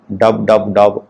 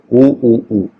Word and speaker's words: www: In English, www is usually read as www. Some users pronounce it as dub, particularly in New Zealand. Stephen Fry, in his Podgrams series of podcasts, pronounces it oo.